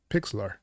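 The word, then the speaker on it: Pixlr: I actually use Pixlar, Pix, Pixlar.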